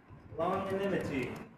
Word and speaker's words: longanimity: Alright, everybody, once again, give it up for Flamingo, give it up for longanimity. That is the pronunciation of the word, correct?